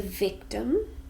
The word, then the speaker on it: victim: One is the victim, 2 syllables, a noun, and we stress the first one.